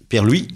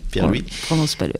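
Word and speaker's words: Pierre Louÿs: Pierre-Louis. Oui, Pierre-Louis. On prononce pas le S.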